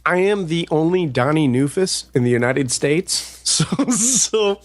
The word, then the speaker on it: Neufuss: It's actually pronounced Neufuss, which in German means new foot.